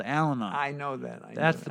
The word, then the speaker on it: Al-Anon: It's not Al is on. No. The idea is because there's a program. Al-Anon. Yeah, Al-Anon.